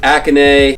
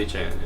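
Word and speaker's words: Achane: Going Akane or Achan. How do you pronounce the name? Achan, right? Achan.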